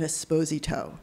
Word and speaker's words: Esposito: you were called an esposito, that you were abandoned to a public space. What is the American pronunciation of esposito? Esposito.